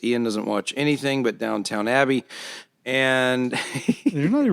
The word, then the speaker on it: Downton Abbey: How do you pronounce it? Downton. Downton Abbey.